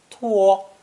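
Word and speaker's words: 拖: radical on the left pronounced first tone two it means to drag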